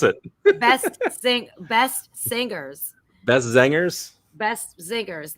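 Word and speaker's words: Beste Zangers: it was Best or Bestie Zangers. How do you pronounce it? Best singers. Best Zangers? Best Zingers, like singers.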